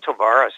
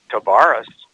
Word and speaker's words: Tavares: while we will get a total reversal John Tavares this year startled this when this fallen training camp his uncle in the National Lacrosse League we had been saying Tavares whenever we described lacrosse and I had a